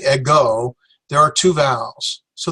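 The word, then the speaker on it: ἐγώ: So we have go, like let go of my ego. And so it's ego, that means I.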